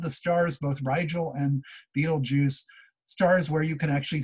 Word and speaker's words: Betelgeuse: star and we have Betelgeuse that's the way you pronounce it Betelgeuse there and if you